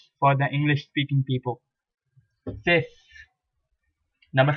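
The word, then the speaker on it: six: The I and X are pronounced as ES. So you have 6 in English language, pronounced in French as cis.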